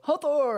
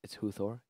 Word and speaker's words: Huthor: I want to go, Hathor, hey! Even though every time Vayner just goes, actually, it's Huthor. You've been saying it wrong all along.